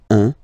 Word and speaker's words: un: All right, so when you combine this u and n, you get the nasal sound un, un.